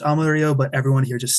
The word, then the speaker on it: Amarillo: all this time uh it's named after this the Spanish word for yellow because the grass the